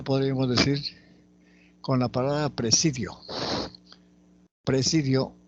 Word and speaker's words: presidio: De igual manera podríamos decir con la palabra presidio.